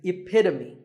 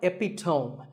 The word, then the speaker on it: epitome: example of something and the perfect pronunciation of that is epitome it's not epitome once again epitome of course once